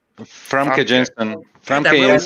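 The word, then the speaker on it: Famke Janssen: How do you say her name? Frank A. Jensen or something? Famke Jensen.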